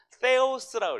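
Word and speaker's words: θεός: 세 번째, 이 번데기 모양은 세타라는 단어인데 이건 세오스라고 읽어요.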